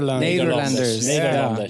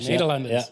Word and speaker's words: Nederlanders: Nederlanders. Nederlanders.